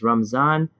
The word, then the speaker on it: Ramadan: As I started off by talking about, there's Ramadan, there's Ramadan, and there's Ramazan. It's irrelevant how you say it because you know what you're trying to mean.